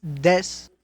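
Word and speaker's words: です: It's pronounced des, but it's written desu. So it's more like they say it so fast you don't hear the u at the end.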